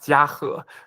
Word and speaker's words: Jiahe: It's pronounced Jiahe, but it is a Chinese name.